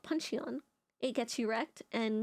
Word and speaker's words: Puncheon: Puncheon is the pronunciation.